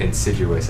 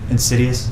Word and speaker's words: Insidious: Insidious. Insidious. Sorry. Why did I call it Insiduous? It's one of those things where you always you pronounce it only to yourself and then you realize that you've been pronouncing it wrong the whole time.